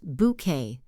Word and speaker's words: bouquet: Then we have bouquet. This is the bunch of flowers that the bride carries. It's pronounced bouquet.